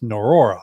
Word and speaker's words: Norroa: It's called Norroa. It's like Varroa, the Varroa mite, but it's pronounced Norroa.